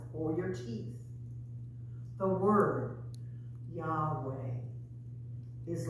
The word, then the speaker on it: Yahweh: in scripture with lord the name god gave to moses is the word we pronounce as yahweh this is not accurate but it is as close as we can come say the word say